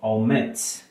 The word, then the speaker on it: omits: ¿Dónde tiene la fuerza? Porque acá no es al principio, no es en la primera frase, porque en la primera sílaba, perdón, porque si no diría omits, pero no es omits, es omits. Si tiene el estrés al final, at the end, ¿cierto?